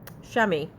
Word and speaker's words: chamois: it is the color shammy it's spelled c-h-a-m-o-i-s and some people who don't know how to pronounce it say Chamois but that's probably the French way of pronouncing it anyway I use that